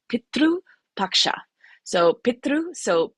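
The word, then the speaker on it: Pitru Paksha: celebration throughout India called Petru Paksha. So Petru so p i t r sometimes there's a u because that's how we pronounce it.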